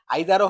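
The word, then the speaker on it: either: আইদার অর নাইদার ন আচ্ছা এটা নাইদারও উচ্চারণ হবে নিদারও হবে আইদারও হবে ইদার হবে কিন্তু কখন জানেন আইদার হবে ব্রিটিশে আর ইদার হবে আমেরিকান আচ্ছা এটা মনে রাখার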